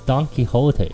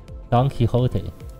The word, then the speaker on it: Don Quixote: my turn to speak um how do you pronounce that dog couldn't uh uh done yeah yeah it's Don Quixote right Don Quixote there's no singer that can all match this